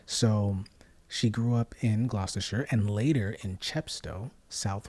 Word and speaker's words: Gloucestershire: I think that's how you pronounce it. Now, it's not Gloucestershire. I think it's Gloucestershire, England. And of course, we now